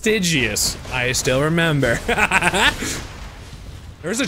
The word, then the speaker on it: Stygius: Which is pronounced Stygius.